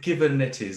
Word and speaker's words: Kubernetes: They pronounce it Kubernetes or something similar.